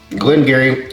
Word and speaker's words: Glen Garioch: dollars that's right yeah you're getting uh glengarry and i appreciate whiskeys are spelled one way but are pronounced another way oh it makes you